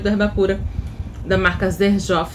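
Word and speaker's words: Xerjoff: Herba pura da marca zer jof escreve Sher jof né mas tem essa pronúncia então é uma marca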